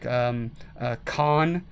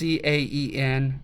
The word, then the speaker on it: Caen: fight would be like Caen. I don't know if I'm saying that correctly. It's Caen, and I certainly don't know French, but I've heard it pronunciated that way on documentaries.